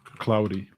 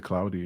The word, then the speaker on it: Claude: Um, cloudy. I was listening to this YouTuber and he he he pronounced it cloudy and I was like, "Oh, no, not claude."